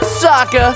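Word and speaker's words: Sokka: have Saka that's right I'm Saka it's pronounced with an AA young ladies I rocked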